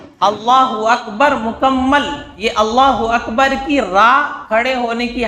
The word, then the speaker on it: اللہ اکبر: تو صحیح تلفظ ہونا چاہیے، اللہ اکبر، اس طرح ہی ہمیں بولنا ہے.